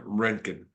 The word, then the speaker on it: Renken: we have a I'm GNA try to pronounce his last name is renen so welcome to the show if I